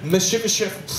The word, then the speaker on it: Mephibosheth: enough, because no one else I know can pronounce this guy's name. Mephibosheth.